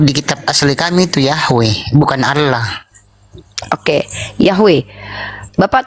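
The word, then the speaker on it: Yahweh: tapi eh yah itu EMP empat huruf huruf mati y he W He tapi bisa dibaca bacanya yahwe gitu oke itu yang dikasih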